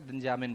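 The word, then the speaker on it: N'Djamena: Okay, pronunciation थोड़ा सा दिक्कत करता है, लेकिन आप प्रैक्टिस करेंगे तो आ जाएगा, दिंजामिन बोलते हैं इसे।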